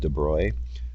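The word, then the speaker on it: de Broglie: let's see what is the dubrow pronounced 'da broy wavelength of 171 gram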